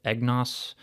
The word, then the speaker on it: EGNOS: uh it's an acronym i think it's pronounced eggnos uh sounds kind of like eggnog i don't know but